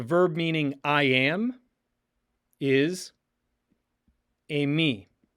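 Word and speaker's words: εἰμί: The verb meaning I am is emi, emi, emi. Epsilon iota form a diphthong, pronounced a, like in the number 8.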